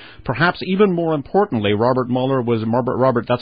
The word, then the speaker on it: Mueller: Perhaps even more importantly, Robert Mueller that's how he pronounces his name, was in charge of the investigation into Pan Am 103, the downing of Pan Am 103.